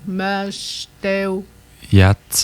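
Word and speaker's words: Mashteuiatsh: TSH se prononce TS. TSH, comme dans, qu'on avait dit le nom du village ici, ça. Mashteo. Yatz.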